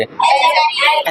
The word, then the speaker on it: adjective: ए डी जे तो ये जब भी इसके और इसके बीच में ये साइलेंट होता है। डी क्या होता है? साइलेंट होता है। क्या होता है? साइलेंट। तो अब बताओ इसको क्या पढ़ोगे? एडजेक्टिव। एडजेक्टिव। क्या पढ़ेंगे? एडजेक्टिव। हम लोग कहते हैं एडजेक्टिव। क्या कहते हैं? एडजेक्टिव। डी का तो यहां वहां पर कोई काम ही नहीं है।